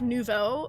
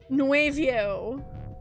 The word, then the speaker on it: nouveau: It's just literally like nouveau. Okay. I was like, my brain literally as a kid would always read it as like, nuevio. And I was like, I don't think that's how you say it at all.